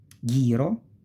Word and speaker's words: ghiro: So since there is the H, the G goes G, not J, G, because we have the H. So ge, gi, because of the H.